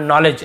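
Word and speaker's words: knowledge: केवल नॉलेज ऐसे पढ़ेंगे।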